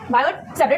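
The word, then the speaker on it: Biot–Savart: सेबेट लॉ ठीक है बायोट सेबेट slot T silent है ठीक है मैग्नेटिक फील्ड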